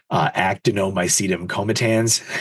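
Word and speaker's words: actinomycetemcomitans: Actinomycetum comitans is how you pronounce that.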